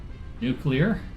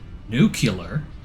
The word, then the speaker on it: nuclear: then tier eight is nuclear or if we're going to say it correctly nuclear uh Advanced aluminum resource